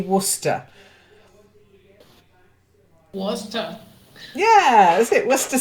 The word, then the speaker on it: Worcester: very famous sauce and it's very difficult to pronounce when you look at the letters it's actually Worcester yeah is it what's